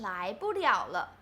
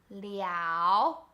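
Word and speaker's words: 了: party in this sentence the first character is pronounced liao right so it's like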